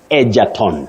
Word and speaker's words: Egerton: say egerton, not egerton. Egerton, very common but wrong. Yes. That name is pronounced egerton, not Egerton.